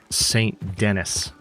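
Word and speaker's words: Saint Denis: the mayor of St. Dennis, which is how it's pronounced.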